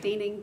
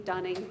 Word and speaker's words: Denning: It's pronounced many different ways around town, and that's fine. However you choose to pronounce it, Denning, Dunning, but that's my last name.